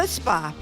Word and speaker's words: chutzpah: the chutzpah.